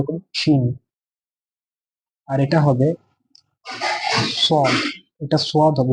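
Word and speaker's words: صاد: আর এটা হবে সদ। এটা সদ হবে, উচ্চারণটা কি হবে?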